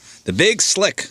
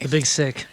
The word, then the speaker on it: The Big Sick: The Big Slick. The Big Slick. I've been saying it wrong the whole time. What an idiot. It's okay. The Big Sick.